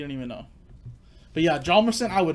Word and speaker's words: Hjalmarsson: But yeah, Hjalmarsson, I would not be able to say. It's like, you're really going to say that? Yeah, how are you going to spell that? Well, obviously, the H is silent.